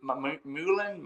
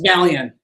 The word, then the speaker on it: Malian: Is it Mullen? It's Malian. Yeah, Malian.